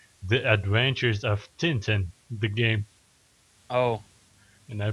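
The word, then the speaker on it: Tintin: Next game, The Adventures of Titan the game. Oh, anyone? That's a terrible title. Wait, the Titans as in the Tin Titans? Uh, no. Oh, wait. I pronounced it wrong. The Adventures of Tinten the game.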